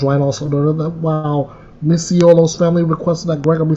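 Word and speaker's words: Micciolo: In May, a jury found Christopher Gregor, 32 years of age, guilty of aggravated manslaughter in the death of Corey Misiolo, that's the pronunciation, who prosecutors argue died from injuries sustained from chronic abuse.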